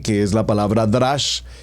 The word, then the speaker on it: drash: pronunciando remex seguidamente tenemos el drash como lo estoy pronunciando d r a sh h drash y finalmente el sot